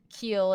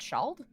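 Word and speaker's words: Ceald: speaking siaru that's the language also the place Keel is apparently pronounced the schald oh he did mention the shelled so is that the place Keel but it's the so you pronounce it shald that's interesting yeah where's the D ude where's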